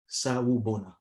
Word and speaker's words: Sawubona: Okay, Sawubona, spelled exactly the way it's pronounced.